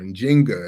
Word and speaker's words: Nzinga: you should watch Netflix's Queen and Zynga or in Jenga as it was alternatively pronounced uh uh and I